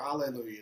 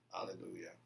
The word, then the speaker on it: Hallelujah: Or Alleluia. It's actually the H is silent. Right. Alleluia. People don't know that. It's not Hallelujah.